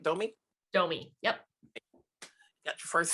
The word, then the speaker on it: Domee: right am i saying it right don't me domi yep you got your first sale now after